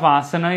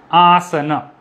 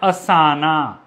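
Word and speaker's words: आसन: quickly like recapitulate okay in sanskrit we have two a sounds a and ah so the pronunciation of a sounds need to be uh kept in mind like asana so in this word aasana there are three is a's right so the first a is long a ah and sir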